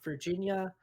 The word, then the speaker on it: virginia: virginia account is actually pronounced virginia like the state in the us so we will be